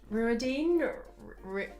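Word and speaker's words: Rhuidean: already done this one ruidine I say like rude Diane I think that's close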